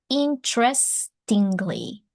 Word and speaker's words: interestingly: The first E is not pronounced interestingly.